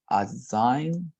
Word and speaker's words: assignments: how is it pronounced is pronounced this way um assignments without the g assignments choose assignments right